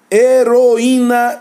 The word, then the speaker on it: heroína: O I fica sozinho na sílaba formando hiato com a vogal anterior. É o mesmo caso de saída, é o mesmo caso de açaí, é o mesmo caso de saúde e assim por diante.